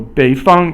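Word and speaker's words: 北方: 北 is 三声, and 方 is 一声. 三声 is falling and then rising, and then 一声 is just the flat tone again. So 北方 is the northern part.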